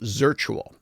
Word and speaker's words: Zirtual: talk about is called Zirtual. And I'll spell that. And you can go to their website. ZIRTUAL. So virtual, but with a Z at the beginning, or Z at the beginning.